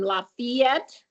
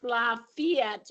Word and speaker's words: Lafayette: So I'm just letting you know that even though there's an A after the F, it is pronounced Lafayette if you want not to get dumped on by people who've lived there a long time.